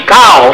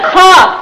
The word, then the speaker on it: cough: I know it can't be cow. It's cough.